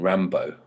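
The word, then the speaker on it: Rimbaud: robin ram i only just learned how to pronounce his name robin rambo a guy called scanner so yes like he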